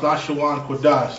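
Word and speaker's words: לשון קודש: It's pronounced Lashawan Kodash, the Hebrew language.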